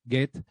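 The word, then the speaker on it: Goethe: era un aficionado agoten dicen que así se pronuncia get que después en las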